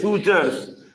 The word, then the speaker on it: sutures: call them sutures sutures this is how we pronounce it sutur s u t u r s sutures what are sutures The Joint between the skull